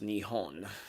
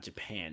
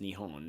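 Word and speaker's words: 日本: uh Japanese they actually it's actually pronounced nion that's it's not Japan it's nion that's that's so funny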